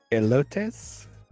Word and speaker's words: elotes: corn, and I will let one of you pronounce that. Elotes?